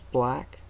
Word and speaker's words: BLAG: see that there it's it's pronounced black well I hope you